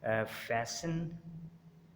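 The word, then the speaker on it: fashion: टी इज़ not pronounced in these common words. इनमें हम जो है वो लफ्ज़ों में हम टी को प्रोनाउंस नहीं करते। मसलन फैशन, लिसन, ऑफन, थिसिल और विसिल, यहाँ पर भी हमने टी को प्रोनाउंस नहीं किया।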